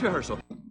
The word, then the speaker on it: rehearsal: 헐설인데 리에가 강세가 없어요. 리허설 이렇게 되는데 어디 있어? 네, 리허설 하는데 헐의 강세가 너무 세요. 그래서 리허설 얘가 리허설이라는 말을 많이 쓰셔도 되게 어려운데 리가 강세가 없고요. 헐의 강세 있어요.